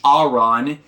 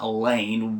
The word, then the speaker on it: Aron: specifically the royal family, which Aron, yes, his name is Aron, not Elaine.